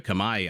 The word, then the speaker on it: Khmer: be watching today the Kam the Kamai I again I interchange the pronunciations I think both of them are right but in any event